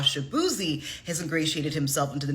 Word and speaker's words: Shaboozey: And his stage name, Shaboozey, comes from the mispronunciation of his actual last name, which is pronounced like this. Shaboozey.